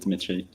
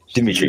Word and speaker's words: Dimitri: Absolutely correct. Just Dimmitri. Dimitri. say the most, you know, basic Russian name you can think of.